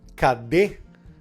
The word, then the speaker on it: cadê: Se ela fosse a sílaba forte, geralmente com um acento, como na palavra cadê, apesar de ser a última sílaba, o E no final, ela é uma sílaba forte, uma sílaba tônica. E o E está marcado com isso. Então, não acontece essa mudança para aí.